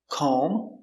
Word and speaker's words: comb: end of a word, the B is always silent. These are only some examples. There are more examples, and we'll practice them in part 2. So remember, pronunciation. Lamb, tomb, bomb, comb, honeycomb, and womb.